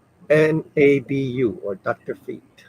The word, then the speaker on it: Nabu: How do you How do you spell it? N A B U or Dr. Fate. Nabu.